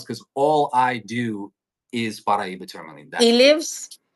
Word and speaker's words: Paraiba: Paraiba.